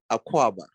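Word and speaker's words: Akwaaba: wait okay teach me something go ahead say aquaba aqua hold on you got to spell this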